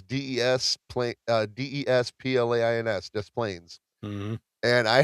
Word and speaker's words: Des Plaines: I don't know because the S is silent. Oh yeah. So when I sold cars, there's a town in Illinois called Des Plaines. It's Desplains, Des Plaines.